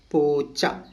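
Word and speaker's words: പൂച്ച: Simply ऐसे करना है, पूचा। ठीक है ना, ओके। प्रोनाउंसिएशन, पा लिखना है, पू, एक चा, दूसरा चा, उसके बाद पूचा।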